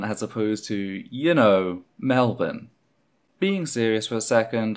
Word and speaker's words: Melbourne: Part of me still can't believe that I called the city of Melbourne, Melbourne, as opposed to, you know, Melbourne.